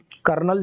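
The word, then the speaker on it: colonel: कर्नल, जो जिनको हम कर्नल प्रोनाउंस करते हैं उनको लिखते हैं हम कोलोनल।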